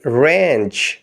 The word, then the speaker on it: wrench: Lemon, ایک لیمو نچوڑنا۔ Spellings of next word are WRENCH۔ Us word میں W سائلنٹ ہے، باقی 5 لیٹرز کی آواز کو ملا کر پڑھیں گے رینچ، رینچ۔ اگلے لفظ کے